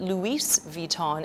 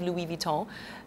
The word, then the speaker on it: Louis Vuitton: and I have friends who do work at Louis Vuitton uh or other other luxury houses like that and they complain know when they hear somebody say call it Louis vuon instead of Louis Vuitton they actually they I mean they're quite hurt